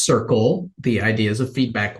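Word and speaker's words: Cerkl: thank you think but somebody likes it it's pronounced Circle the idea is of feedback loop that's the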